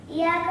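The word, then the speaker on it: إياك: அந்த யாக்கு மேல சத்து வந்துச்சு, அழுத்தி ஓதணும். இய்யாக நஅபுதுக்கு மீனிங் வந்து யா அல்லாஹ் நான் உன்னை மட்டும் தான் வணங்குவேன் அப்படின்னு அர்த்தம். இய்யாக நஸ்தஈனுக்கு மீனிங் வந்து உங்ககிட்ட மட்டும் தான் உதவி கேட்பேன் அப்படின்னு அர்த்தம்.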